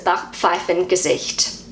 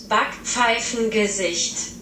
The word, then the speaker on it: Backpfeifengesicht: Hopefully I pronounce this okay. This word is Backpfeifengesicht. I'll say it again, Backpfeifengesicht. So that's how I say it as a New Zealander. This is how Google pronounces it. Backpfeifengesicht.